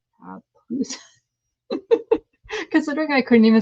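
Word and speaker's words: pupusa: Okay, and Lindsay is telling me how to pronounce it. Papusa. Papusa.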